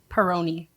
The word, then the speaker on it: Perrone: up in my head every time say it Peroni it okay it's Peron but I've gotten Peroni that's not like a I would botch it